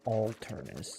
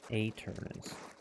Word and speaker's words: Aternus: Alright, I keep saying Alternus. There is no L in there. Like Aternus. That's Aternus, right?